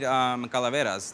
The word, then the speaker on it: calaveras: So we also wanted to incorporate calaveras. They're sugar skulls. And how do you pronounce them?